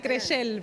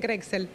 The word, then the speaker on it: Crexell: me corregía recién es es Catalán se dice crel pero es que acá le dicen crexel Creel Bueno una dieta